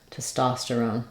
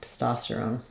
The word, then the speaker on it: testosterone: you the Rhythm and the vowel Clarity that would sound like tosterone testosterone it can help you really make this reduced I don't I just don't want much vowel here on that first unstress syllable testosterone testosterone um you could also think about it like Stone I put the r there because I feel like we link the r um between those two syllables so if I